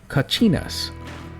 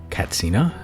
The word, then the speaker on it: Katsina: Uh they're pronounced kacinas. Uh they are very sacred and powerful spirit beings in the Hopi and Pueblo Native American cultures. Uh I did also come across information saying that the Hopi tribe prefer the term Catsina. So based on that, I'm going to pronounce them Katsina because I don't want to be rude.